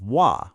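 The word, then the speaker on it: は: It's pronounced wah when it's being a topic marker.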